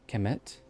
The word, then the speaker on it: Kemet: Kemet, or Kemet, I think is how it's actually pronounced. Kemet, which means the Black Land.